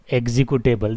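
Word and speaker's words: executable: क्या बोलते हैं एग्जीक्यूटेबल देखो यहां पर एक सी जो है वो आधा मतलब ज का उच्चारण होगा यहां पे श नहीं होगा ज आएगा यहां पे एक् ी है ना एग्जीक्यूटेबल क्या होगा एग्जीक्यूटेबल का और ज दोनों मिलेगा एग्जीक्यूटेबल जैसे मैं बोल रहा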